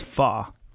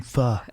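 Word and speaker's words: phở: What is pho?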